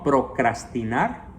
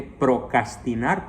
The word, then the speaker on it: procrastinar: Les ruego entonces no procrastinar. Algunos dicen erróneamente procrastinar, pero no. En la segunda sílaba va una R entre la C y la A. Procrastinar.